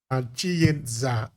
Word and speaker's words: Chiyedza: Chiyedza, try to pronounce it correctly.